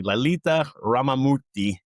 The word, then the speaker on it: Lalitha Ramamoorthy: with the CEO um and I want to pronounce the name correctly Lalita Ramorti and I'm glad you got that I